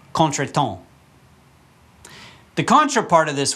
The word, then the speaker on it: contretemps: the next word is contra temps but that's not how you say it remember the French who I'm still mad at yeah they gave us this word and so it's contract